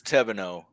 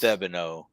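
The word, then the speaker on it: Thevenot: Well, in France it's Tevenot, and then we grew up in northern Kentucky, southern Indiana, so Midwest-ish, and they still leave out the H, but we pronounce the T at the end. And then down in Louisiana, we've got quite a bit of actual kin down there, and it's Thebino. So then they pronounce the H and then leave the T off on the end.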